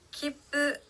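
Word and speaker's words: 切符: 기쁘, 표, 티켓이라는 뜻의 단어인데요.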